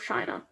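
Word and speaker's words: Qin: to pronounce it um i know you want to think but because it's a queue but it's actually so chin chin she i'm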